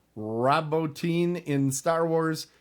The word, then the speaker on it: Bottin: Rob Bottin, and I think that's how I've heard it pronounced, but it's Bottin.